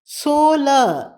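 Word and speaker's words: सोलह: 16 சோல சோல ஹவை எங்கும் அடக்கி உச்சரிக்க வேண்டும் 17 சத்ர சத்ர எங்கும்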